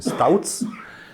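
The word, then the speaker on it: Tauc: from 50s I think developed by touts not talk he was this is a Czech surname so the proper pronunciation Stouts and according to this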